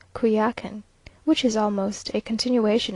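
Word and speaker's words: Coyoacán: early in the morning to kuya walkin now pronounced qui akan which is almost a continuation of the village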